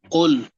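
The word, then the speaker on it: قُلْ: আচ্ছা দেখেন, কপেশকু লাম সাকিন কুল, কপেশকু লাম সাকিন। এখানে যদি নরমাল কেউ কুল উচ্চারণ করে তাহলে কি হবে বলেন তো? হবে না। তাইলে তাইলে কাফ উচ্চারিত হয়ে যাবে। এই কাফ, এই কাফ পেশ কুল লাম সাকিন।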